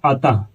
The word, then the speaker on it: अतः: अतः अतः इसको पढ़िए ना अतः अतः ह स्वतः स्वतःह या फिर